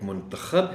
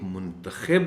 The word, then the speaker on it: منتخب: اس لفظ کے بھی دو تلفظ ہیں، ایک منتخب ہے اور ایک منتخب ہے. منتخب کا مطلب ہے کہ انتخاب کرنا، اور منتخب کا مطلب ہے کہ جس کا انتخاب کیا گیا ہو.